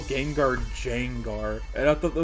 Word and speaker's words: Gengar: Like every time I talk to Ryan in the Psychic J's Discord, I'll just like intentionally say Jangar and put a J there.